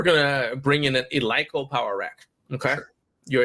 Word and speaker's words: Eleiko: If you're watching this and you've never seen Eleiko, it's people pronounce it Eleiko, but it's Eleiko.